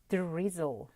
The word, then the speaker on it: drizzle: 제대로 발음을 하려면 포그 대신에 확실히 F를 물어주셔서 fog, 그리고 드리즐 대신에 R 발음을 제대로 넣어주셔서 drizzle 이렇게 하셔야 정확한 발음이 되죠.